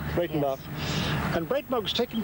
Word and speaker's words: Breitenbach: How do you pronounce that? Breitenbach. Breitenbach.